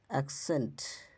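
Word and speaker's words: accent: এর পরে ই বা আই বসে তখন তার উচ্চারণ বদলে গিয়ে অনেকটা কয়শয় হয় কক্স ঠিক আছে এক্সেন্ট এক্সেন্ট এক্সেস ভ্যাকসিন এক্সিডেন্ট হছে সাকসেস ঠিক আছে ডাবল সি এরপরে যদি ই অথবা আই থাকে।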